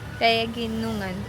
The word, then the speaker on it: Tegenungan: know how to pronounce it. Tegingungan Tegingungan Tegingungan Yeah, Tegingungan.